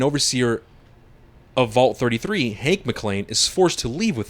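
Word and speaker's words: MacLean: sorry 219 years later Vault 33 dweller Lucy mlan it's mlan right mlan M it's cuz they have it weird here it's like I want to read it like McLean yeah yeah that's how it's spelled weird you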